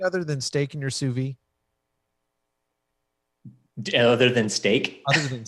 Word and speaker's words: sous vide: Have you cooked anything other than steak in your sous vide?